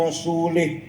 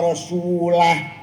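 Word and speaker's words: وَرَسُولُهُ: Annallaha bari'um minal musyrikin wa rasulih. Allah tidak melindungi orang musyrik dan tidak melindungi Rasulullah. Salah. Bacanya harus wa annallaha bari'um minal musyrikin wa rasulah. Jangan wa rasulih.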